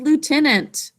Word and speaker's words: lieutenant: The spelling pattern for that first syllable is I-E-U. There's the OO phonogram and a silent I before it.